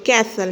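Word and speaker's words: castle: कैसल में भी T silent है।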